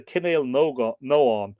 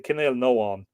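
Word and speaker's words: Cenél nEógain: of the northern Ainail, where the Kinnail Noan, well, it'd be E-O for the G-A-I-N, but the G would be lenited, wouldn't it? The Kinnail Noan, the Oanacht, continued to dominate.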